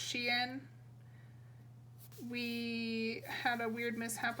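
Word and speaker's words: Xi'an: then the next day this is actually pronounced she in we had a weird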